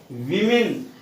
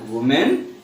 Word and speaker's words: women: Okay, most of us we pronounce this word women. But my dear friends, remember that's a wrong pronunciation. So it's not women, it is women.